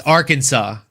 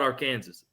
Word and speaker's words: Arkansas: Lane, this one I pronounced on purpose wrong. It's a southern thing from the south. You You know we call it our Kansas.